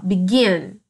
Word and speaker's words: begin: Begin, begin. A minha sílaba mais forte é o gin, que é um CVC, tá?